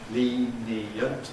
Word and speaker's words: lenient: And as these lose their syllabicity in the process of compression, the happy vowel turns into a semivowel. Lenient becomes lenient.